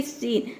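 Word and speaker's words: scene: जैसे कि सीन, सीन में देख सकते हैं कि एस सी के बाद ई आ रहा है, यहाँ पे एस सी का जो प्रोनाउंसिएशन होगा वो स होगा, ये होता है सी।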